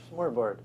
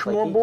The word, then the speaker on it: Smørrebrød: Smørrebrød. Smør? I can't do the vowels. Smørrebrød. Like how do you pronounce it?